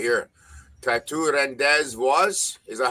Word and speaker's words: Rendezvous: Tattoo Rendezvous. Is that how it's pronounced, Chris? Tattoo Rendezvous. Rendezvous.